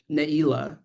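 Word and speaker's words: Neilah: Um and you can see this is Naila like the the closing prayer for Yomkipur but it's spelled Ningla. And this is very characteristic of western sphartic transliteration where the guttural ain sound the Hebrew letter ain is translated to ng.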